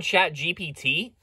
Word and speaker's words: ChatGPT: maybe you've heard of it Oh you mean chat GPT oh so that's how you pronounce it man that makes so much more